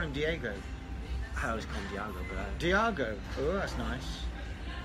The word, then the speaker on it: Diago: Diago oh that's nice I know it's not Diego because I got I got corrected once yeah so you think of San Diego San Diego's d-i-e-g-o Diago his name is spelled d-i-a-g-o Diego yeah which I